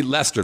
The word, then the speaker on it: Leicester: Okay, anyway, so we go see Leicester. That's the way you pronounce it.